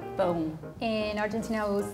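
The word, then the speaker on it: pão: say it again it's like it's like back here boom boom boom sounds like bone the song is going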